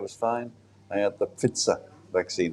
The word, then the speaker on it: Pfizer: I had the Pfizer vaccine. That's how the Germans pronounce it, Pfizer.